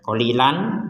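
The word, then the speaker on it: قَلِيلًا: berfungsi dua harakat faumtiuhuil Nah qolilan kita baca la qolilan qolila menjadi baca qolila Kenapa karena berhenti Seperti penjelasan sebelumnya ya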